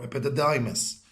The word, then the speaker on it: epididymis: This is the epididymis now, or epididymis. It's how you pronounce it, English or American.